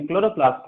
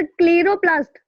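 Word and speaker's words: chloroplast: क्लोरोप्लास्ट में? यस सर। सर क्लीरोप्लास्ट। क्लोरोप्लास्ट, हाँ Clairo नहीं है, क्लोरो होगा जी।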